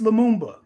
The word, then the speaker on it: Lumumba: I don't know how to pronounce his name. Lumumba?